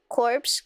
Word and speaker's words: Corps: The PS is silent? I can't believe this. The Marine Corps? It is funky without the E, corpse, as a group.